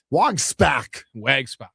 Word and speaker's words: Wojczulis: And Jacob Wojczulis, non-roster invitee, unscored upon in 6 relief appearances. You will never say his name correct. Wojczulis.